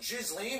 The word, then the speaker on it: Ghislaine: Gillian Maxwell the accomplice of violence suicide victims pronounce her stupid name I was done with jizz Li which doesn't sound like a British socialite it